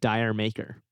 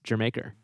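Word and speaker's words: D'yer Mak'er: Led Zeppelin which apparently a lot of people mispronounce Dyer maker and that's not how it's pronounced it's Jamaica don't do that I did try this one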